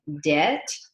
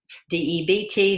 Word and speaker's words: debt: the bank is called debt debt the b is silent and in accounting that